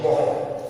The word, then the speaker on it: mho: था OHM inverse है, तो उल्टी स्पेलिंग होगी MHO, मोह, हिंदी में इसे कहेंगे मोह।